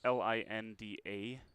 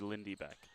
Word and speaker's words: Lindy: Normally checking pronunciations, Linda is Linda, but I think that's a misprinted spelling on the game notes or game sheet from tonight, so I apologize. Should be Lindy Beck.